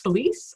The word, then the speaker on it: Phylise: thanks Clark so yes my name is pronounced Felice and I have been